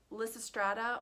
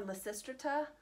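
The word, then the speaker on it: Lysistrata: all up first is lisa strata or la sistrita i've heard it pronounced both ways i don't know which way is the correct way because i've heard both about the same amount but this is by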